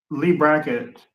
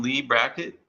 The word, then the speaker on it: Leigh Brackett: Leigh Brackett? Yeah, Leigh Brackett.